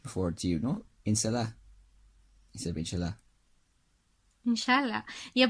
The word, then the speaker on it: Salah: It's like Mohammed Salah. Salah. Yeah, Salah. Yeah. It's like you're some kind of like inner city Cork person. Salah. No, like it's an Arabic letter.